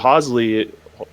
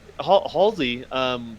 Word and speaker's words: Halsey: that stuff kind of like upgraded as basically hoesley it keeps in her name right wrong but there's no there's an L in there you're not pronouncing yeah yeah but you know Halsey basically you know becomes the new stead of